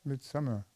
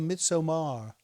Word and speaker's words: Midsommar: No, it's called Midsommar. Very well. Midsummer. Midsummer. Is that what it means? Yes, Why don't they just say bloody midsummer? they do. No, they say Midsommar. It's spelled entirely different.